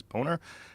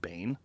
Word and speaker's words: Boehner: It's Boner. B O E H N E R. It's Boner. It's Boner. I agree. How do you say how do you get Boehner out of that? That's not Bane.